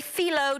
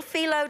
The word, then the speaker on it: phyllo: These are found in your freezer department of your grocery store, and they're little mini phyllo dough. P-H-Y-L-L-O is how you pronounce it, and they're little tiny little phyllo dough shells.